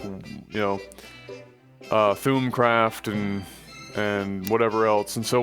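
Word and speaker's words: Thaumcraft: Like thumb, like as in like ThumbCraft. like lawn, like thumb. So like it's THAWM in pronunciation, apparently. So like ThumCraft, or just call it ThumbCraft at that point, I guess, really.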